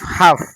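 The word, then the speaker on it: half: মনে রাখবে কোন শব্দে যদি এল এর পরে কে এফ এম এবং ডি থাকে তাহলে ওই শব্দে এল এর উচ্চারণ হয় না অর্থাৎ এল এর উচ্চারণ সাইলেন্ট থাকে যেমন ধর ডবলিউ ও ইউ এলডি would T এল K talk H এল এফ হাফ সি এ এল এম কাম এই শব্দগুলিতে এল এর পরে ডি কে এফ এম থাকার কারণে কিন্তু এল উচ্চারণ হয়নি। আশা করি ভিডিওটি তোমাদের ভালো লেগেছে।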